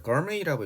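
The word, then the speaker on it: gourmet: 자, 거르메이라고 읽어요. 프랑스에서 와서 미식가란 뜻입니다.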